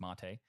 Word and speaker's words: MATE: And XFCE and Mate, it's pronounced Mate. It's named after the tea.